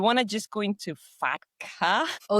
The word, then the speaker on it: FATCA: Now yes FATKA differently and sometimes very funnily pronounced in many different countries but we are just going to call it FATKA F A TCA stands for the Foreign Account Tax Compliance Act.